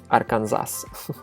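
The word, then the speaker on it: Арканзас: And yeah, in Russian we don't honor the special pronunciation of the state in English, so we just say Arkansas.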